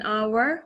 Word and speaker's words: hour: means the directional correct 60 minutes is an hour with a silent edge when hour has 60